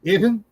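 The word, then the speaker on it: אבן: It's called even. The pronunciation, of course, is variable.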